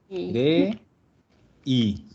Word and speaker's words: aerei: aerei. Gli aerei. Acuérdate que esa O simplemente la pasamos por ahí. Entonces, gli aerei. Es difícil, son Sí. prácticamente 4 vocales y una consonante. Pero se pronuncia todo. Aerei.